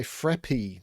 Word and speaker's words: Fraπ: this is a puzzle by frappy that's how i was told i should pronounce this name um and the puzzle